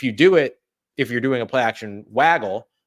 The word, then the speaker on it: waggle: to a second player, which is called a waggle or a woggle, depending upon how you pronounce it, but WAGGLE. If you should be waggle play actions. Yeah, it should be waggle, but I know some people say woggle.